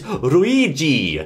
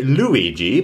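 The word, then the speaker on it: ルイージ: what we do here we get rid of the L just kick that straight out no L's it's REI REI little with little little roll of the tongue Luigi maybe maybe now we're not going to say Luigi because of course in Japanese there isn't actually an l sound you'll have to say ruigi now this is actually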